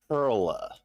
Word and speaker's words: Perla: black hair he's uh my name is perla pearla spelled like pearl with an a at the end um tell me where